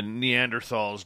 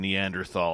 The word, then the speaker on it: Neanderthal: grunt much like the neanderthals did back in the day just makes it feel so much better yeah yep i still pronounce the h in neanderthal i can't stand it